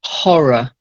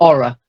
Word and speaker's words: horror: The first word, voiced H, horror, not aura, horror.